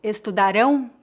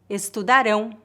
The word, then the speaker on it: estudarão: No segundo exemplo, eles estudarão português. O verbo estudar está no futuro. A sílaba forte da palavra estudarão é a última sílaba, rão. Neste caso, o som do ão é bem forte. Estudarão, estudarão.